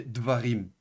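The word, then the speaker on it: דְּבָרִים: Donc le camet ici devient un cheva et donc vous avez dvarim. D'accord ? Donc au pluriel ça donne devarim.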